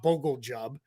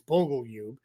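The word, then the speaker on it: Bogoljub: Um as they're coming it I I promise it's not Bogle Jub. Um is that's how it looks, but it's Bogleub.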